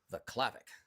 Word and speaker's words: Vaclavik: So, it's two n's, two l's, Vaclavik, v a c l a v i k. Vaclavik. I I I I butchered your name originally though.